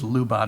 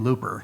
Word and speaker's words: Lubadh: The module that's spelled Lubadh, I always pronounced it in my head as Lubadh or something until I heard Jason pronounce it. Yeah. And with his accent, it sounds just like he's saying looper.